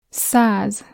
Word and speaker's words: száz: Száz.